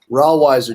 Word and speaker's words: Rawiser: Rawiser, just like Budweiser beer.